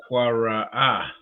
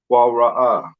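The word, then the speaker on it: קרא: So how would you pronounce that in the Hebrew? Quara'a. It's lucky. I was looking at the wrong one. It's lucky. That's correct. Quara'a.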